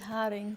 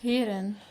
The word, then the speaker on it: heren: You know, it sounds like you said haring. Dames en haring. Yeah, that's how you say it. Heren.